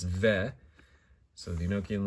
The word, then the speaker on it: Veh: So ve, you know, it's sort of, you know, I think fe is sometimes something you might hear in Yiddish, but this time it's ve.